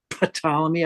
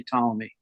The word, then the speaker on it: Ptolemy: It's just so hard to pronounce the P and T together that it's generally just dropped. Yeah. Ptolemy. I say Ptolemy.